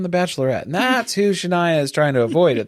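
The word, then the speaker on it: Shinia: S H I N I A Shania. Yeah, that's literally It's like phonetically how you would spell that out, I guess.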